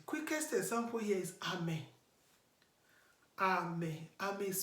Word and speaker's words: Ame: Ame. Ame is spelled as A-M-E.